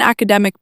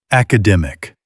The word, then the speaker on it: academic: She's on an academic program. Wrong stress. Academic. Academic. Third syllable.